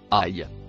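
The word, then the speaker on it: أي: Le premier en couleur noire se prononce aïe.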